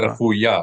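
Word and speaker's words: רפויה: Refuya. Accent the last syllable. Rifuya.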